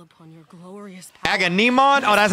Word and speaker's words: Agamemnon: Agamemnon?